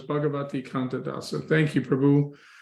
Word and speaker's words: Bhagvati: I'm here okay oh am I saying your name wrong is you're spelling it bhagavati is it yeah okay so it's bhagavati Canada so thank you Prabhu you have the